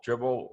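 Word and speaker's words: Dribbble: No, these pictures I get them from this site called Dribble, like dribbling a basketball, but spelled with 3 B's.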